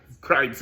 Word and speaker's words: Kreitz: But one of the main reasons I got behind Carl Tipton and Kelly Kreitz, Kreitz, I said it right, is because when I